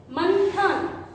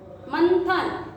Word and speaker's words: मंथन: मंथन, मंथन न केवल जीवा का आगे का हिस्सा जुबान को दांत को चिपकता है, इसलिए ये हुआ न यानी कि दंत वर्ण।